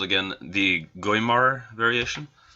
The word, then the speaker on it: Guimard: is called again the game are variation I sounds like a French name gwaymar is a better way to pronounce it um but it's nice